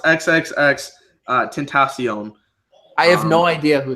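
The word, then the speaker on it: XXXTentacion: it's a rapper name it's pronounced xxx tint accion I have no idea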